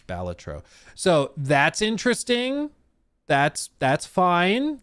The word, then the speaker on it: Balatro: You can add Balatro makeup, which, yes, apparently is the way you pronounce it. I always wanted to say Balatro, but apparently it's Balatro.